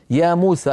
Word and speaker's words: يا موسى: اختصارا اختصارا يا ايها يا موسى ايضا كما ترون كتبت يا موسى ولا بد من نطق الالف ف لذلك علماؤنا زادوها